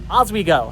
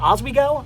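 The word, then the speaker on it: Oswego: I think it's actually it kind of sounds like as we go, but it's it's O as we go.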